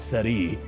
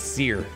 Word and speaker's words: Cere: they put the pronunciation it's not City it's Seer like a steak but what if someone